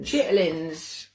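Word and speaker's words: chitterlings: i carried mark chitterling chitlins sometimes pronounced or spelled chitlins or chitlins are a culinary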